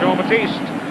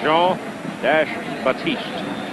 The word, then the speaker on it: Jean-Baptiste: Garland, Jean-Baptiste. And Jean-Baptiste carries the ball to about the 43. That is not a mispronunciation. His last name in total is Jean-Baptiste.